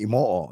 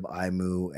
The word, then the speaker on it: Emo-o: It's actually emo-o is my last name because you pronounce every O, every syllable. But I say emo, but I a lot of get of imu and just because of the way it's spelled.